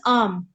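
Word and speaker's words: ॐ: तो आर्म is basically the 3 primordial sounds, इसी से सारी और साउंड्स निकली है, from uh, then you गो ओ ई, it's like that, है ना?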